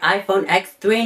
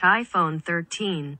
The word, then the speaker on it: iPhone 13: I should unbox my iPhone X3 now it's iPhone 13. I prefer iPhone X3 instead well Apple says it's pronounced iPhone 13.